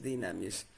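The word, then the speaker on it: δύναμις: escribe en griego es dunamis, pero la pronunciación es dinamis. La u se convierte en una y para que se pronuncie como i. Dinamis.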